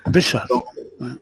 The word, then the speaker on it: Béchar: Ça s'appelle, ça se prononce comme ça, Bchar. Hein? Béchar.